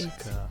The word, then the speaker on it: Escha: Now, why don't you introduce yourself, Escha? Oh, it's Oh, it's Escha. Escha. So it's Eschology. I'm... Now, She's how will we stuttering. know the pronunciation of the last name?